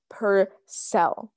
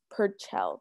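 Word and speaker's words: Purcell: it by mr henry per cell per chell per cell per cell that's it okay so this is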